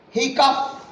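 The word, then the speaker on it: hiccough: And the words are, this word H-I-C-O-U-G-H is pronounced as hiccup, hiccup, whereas T-H-O-R-O-U-G-H is pronounced as ta, row, whereas L-A-U-G-H is pronounced as laugh, laugh.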